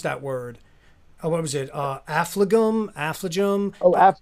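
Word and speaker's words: Affligem: And I don't know how to pronounce that word. What was it? Affligum? Oh, Affligum.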